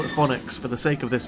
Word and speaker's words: Fønix: Danish for Phoenix and I heard most Danes in the park pronounce it as Phoenix there's already several coasters